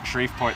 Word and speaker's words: Shreveport: in sheep sheep shreveport sharif port that's the one everyone keeps reminding me how to say it and i keep